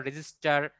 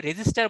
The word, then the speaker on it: register: তো এই চিপের মধ্যে বিভিন্ন রকম আপনার ইলেকট্রনিক যে সার্কিট গুলো আছে, যেমন ডায়োড, ট্রানজিস্টর, রেজিস্টার, এটা কিন্তু রেজিস্টার বলেছি ভাই, এটা কিন্তু রেজিস্টর না, রেজিস্টার অন্য জিনিস, সেটা হচ্ছে রোধ।